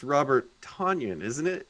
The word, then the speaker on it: Tonyan: And I think it's Robert Tonyan, isn't it? Tonyan sounds like an appetizer you'd get at TGI Fridays or something. It rhymes with Funyun.